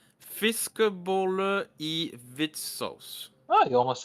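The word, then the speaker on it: fiskeboller i hvit saus: So number 8, fiskebolle I hvitsaus. Oh, you almost said it right. I mean, Or- that almost sounds like English, just with a bad accent. Fiskboller I hvit saus.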